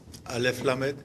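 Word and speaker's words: אל: kindness the the uh say k but it's pronounced a Al yes Al that's kindness so you have kindness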